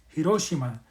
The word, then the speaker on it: Hiroshima: do is go to Hiroshima, or I should pronounce it right, Hiroshima.